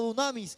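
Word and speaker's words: δύναμις: La palabra poder en el griego se pronuncia como dunamis, un generador de electricidad, algo que iba a generar poder.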